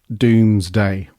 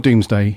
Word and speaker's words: Doomsday: going to dive into Dooms Day and I feel I have to say it like that as well it's not doomsday it's Dooms Day which was a nice